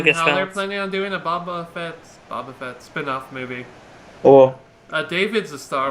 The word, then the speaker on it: Boba Fett: Bobo. It's Boba Fett.